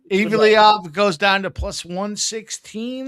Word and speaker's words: Evloev: Think I pronounced that okay? Yeah, Evloev.